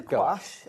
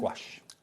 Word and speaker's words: gouache: Now explain the difference then between these are gouache. I've got my um gouash. Gouash gash. I I've even googled it. There there are different ways to pronounce it. No one's right or wrong.